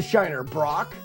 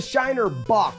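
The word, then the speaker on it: Shiner Bock: You tell my phone that I don't think it's the shiner Brock. Have I been saying it wrong? I got to check this out. No, it's the Shiner Boach. B O C K. There's no R.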